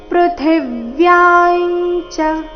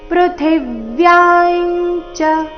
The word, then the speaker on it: ಪೃಥಿವ್ಯಾಂಚ: ಗ ಮೇಲೆ ಆಘಾತ ಗಂಧफ ಪೃಥಿವ್ಯಾಂಚ ಪೃಥಿವ್ಯಾಂಚ ಅಲ್ಲಿ ಥಿ ಮಹಾಪ್ರಾಣ ರಸ್ವ ಬರಬೇಕು ಅದರ ಮೇಲೆ ಆಘಾತ ಯ ದೀರ್ಘ ಹೇಳಿ ಅನುಸ್ವಾರದ ಉಚ್ಚಾರಣೆ ಅನುನಾಸಿಕ ಯ ರೀತಿ ಮುಂದೆ ಚ ಬಂದ ಕಾರಣ ಪೃಥಿವ್ಯಾಂಚ ಪುಣ್ಯೋಗಂಧ ಪೃಥಿವ್ಯಾಂಚ ತೇಜಸ್ಶ್ಚಾಸ್ಮಿ ಆಘಾತಗಳ ಮೇಲೆ